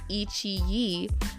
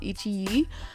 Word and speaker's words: iQIYI: because I was like, it's Chinese, and in Chinese I think QI is chi, so it's Ichi, and I think that's what the name of this what was it, this website is called, Ichi.